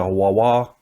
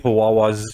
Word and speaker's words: Huawei: and everything what's what how do you say the huawei the the chinese brand is here it's not that company though no no i mean like them like yeah yeah it sounds like hawaii i guess but it's